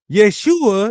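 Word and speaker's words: ישוע: Yeshua is a shortened form of how you say the Messiah's name that's commonly used in the New Testament. That's how you say it in Biblical Hebrew.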